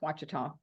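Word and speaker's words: Ouachita: It starts with a O, but it's pronounced Wita. Oh, yeah. Yeah. Okay. I know. We have time. Yeah. Mhm. It's Lake Watita.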